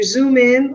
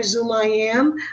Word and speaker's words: XoomIM: And we do pronounce it either Zoom in or Zoom I am.